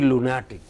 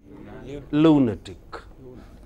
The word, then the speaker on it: lunatic: is an exception and how is it pronounced therefore lunatic this is an exception by rule it should be all words ending in IC take stress immediately before I see by that rule it should have been lunatic but this is an exception there are one or two exceptions I will tell you more about them so this is pronounced as lunatic but the next word